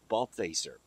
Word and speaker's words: Balthaser: last name again because I don't want to mispronounce it it's baser that's good well I want to talk with